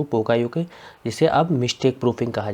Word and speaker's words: Poka-yoke: इसका जो प्रोनाउंसिएशन है वो है पोका योके।